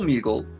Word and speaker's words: Moogle: He's an adorable Moogle. A Moogle? Moogle. Okay, I'm going to challenge that pronunciation.